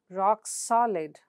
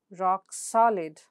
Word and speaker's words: rock-solid: In compound adjectives, the stress is placed on the second word. For example, rock solid, rock solid, sparkling red, sparkling red.